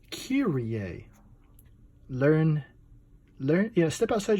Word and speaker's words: Kyrie: a comic book here Rea not Kyrie as as some on the internet one too to pronounce this word this is kiri a learn learn yeah step